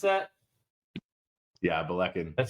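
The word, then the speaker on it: Ballechin: Is that how you pronounce that? Yeah, Belecan.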